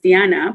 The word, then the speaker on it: Diana: name right because like it's pronounced diana but in english read something else so every time i